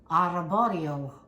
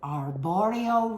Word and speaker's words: Arborio: now you make risotto with araborio I know I never could pronounce it arborio rice it's a different